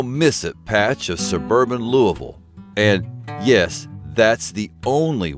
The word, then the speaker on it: Louisville: A blink and you'll miss it patch of suburban Louisville. And yes, that's the only way to pronounce that city.